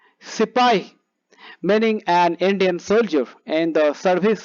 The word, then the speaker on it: sepoy: companion new words sepoy this is how the bit is pronounced the word sepay meaning an indian soldier